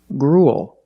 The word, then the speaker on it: gruel: and a similar pronunciation gruel again we see the uel making the long u sound followed by a dark L just like in the words pool and cool gruel is a kind